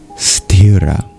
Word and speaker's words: sthira: The word of the verse is stirra.